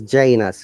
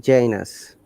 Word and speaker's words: Janus: Uh, It is Janus. Yeah. Remember, it is Janus. Janus. Okay. You pronounce it correctly. Janus.